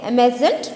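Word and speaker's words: emergent: तो ये जो है साइलेंट रहता है आर, ठीक है। डी भी जो है वो डी में नहीं रहता है, ज करके उच्चारण होगा, ठीक है। इसीलिए एमेजेंट प्लांट्स, ठीक है।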